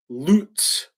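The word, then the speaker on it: לץ: The word for scoffer here is the Hebrew word lutz. I'm pronouncing it lutz because I think it sounds better for us in America. I'm Americanizing this word.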